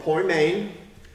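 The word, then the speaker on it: ποιμήν: not an e and an eda is long poi main and it's translated shepherd nearly every time in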